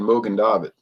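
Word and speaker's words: Mogen David: And I'm like, it's not Morgan David because there's no R, you know, it's just Mogen, Mogan David.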